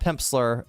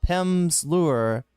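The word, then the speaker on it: Pimsleur: Uh, not Pimpsler. Uh, Pimp's Lure.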